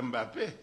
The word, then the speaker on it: Mbappé: Sauf peut-être Mbappé. Mais parfois, ils disent M-N Mbappé. Guylaine M-N. Ils prononcent d'abord le M. Parce qu'ils ne peuvent pas coller le M et le P. Ils ne peuvent pas coller ça. Ça n'existe pas dans leur son.